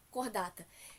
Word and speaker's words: Chordata: A escrita ali está chordata, a pronúncia correta, cordata. Então, no filo cordata, todos os seres que na fase embrionária possuem uma estrutura chamada de notocorda.